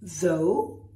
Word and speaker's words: though: Then you have though, which rhymes with dough.